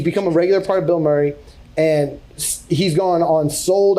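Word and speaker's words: Bilmuri: He's like, "I'm going to be playing with this group called Bill Murray." I'm like, "Bill Murray?" Like the actor, but it's spelled B I L M M U R I.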